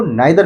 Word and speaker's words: neither: मेरे दोस्तों आज हम लोग ईदर और नीदर के यूज़ को जानेंगे। ईदर और नीदर के यूज़ को सीखेंगे। ईदर को आइदर भी बोलते हैं। नीदर को नाइदर भी बोलते हैं।